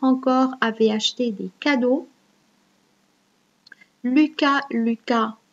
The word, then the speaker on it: Lucas: Lucas, on ne prononce pas les S, le S. Lucas est un compère, c'est un nom propre masculin.